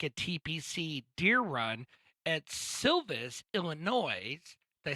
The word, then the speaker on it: Silvis: So anyway, going in this weekend, what's happening now at the John Deere Classic at TPC Deer Run at Silvis, Illinois. Did I spell that right?